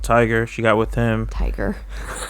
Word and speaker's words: Tyga: Tiger. I don't pronounce the A. Tiger.